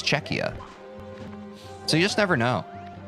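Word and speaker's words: Czechia: Like I even well on Friday I think I pronounced uh Czecha Cetch Cetchia and we had some folks in chat who reminded me or educated me it's Czecha.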